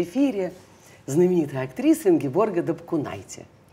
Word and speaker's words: Дапкунайте: Вот скажи, ты же в Литве зовешься Дапкунайте, правильно? Да. Почему ты не научила все русское общество произносить правильно твою фамилию? Почему они все говорят Дапкунайте? А ты Дапкунайте.